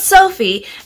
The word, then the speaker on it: Sofy: it's really soft or is it sophie like the name so it's sophie and there's three different